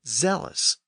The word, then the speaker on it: zealous: again in the 1500s from medieval Latin as zealous, with a Z sound at the beginning.